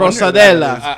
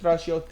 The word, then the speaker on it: stracciatella: wrong, but Stracciatella. I'm not too familiar with. I wonder- Strosadella.